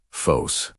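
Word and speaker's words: φῶς: The second element is phos pronounced fos.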